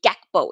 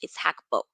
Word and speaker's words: Gakpo: You're not supposed to say Gakpo. It's Hakpo. Um, that's the Dutch pronunciation.